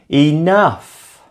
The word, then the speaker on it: enough: Enough is the second syllable.